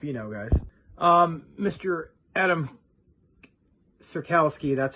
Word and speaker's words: Adamski: other good stuff you know guys um Mr Adam sirkowski that's how you say his name it was